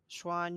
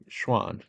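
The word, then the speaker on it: Xuan: it better for me X U an y uan Schwan yuanan yanan schan X is like s for some reason Schwan okay yeah Schwan Yuan yeah uh it's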